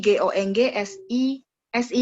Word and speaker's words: 公司: 公司 jadi GONG SI itu bacanya 公司 SI ya, 公司.